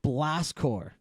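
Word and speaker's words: Blast Corps: that it was called Blast core blast course uh spell you know the same way military spells it so it's spelled corpse right um hold on I'm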